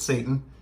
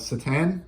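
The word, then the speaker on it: Šatan: He does not pronounce it Satan. It is Miroslav Satan, but pretty cool.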